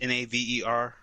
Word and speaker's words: Naver: And it is published by, I think it's pronounced Naver Webtoons, Naver, and Line Webtoons.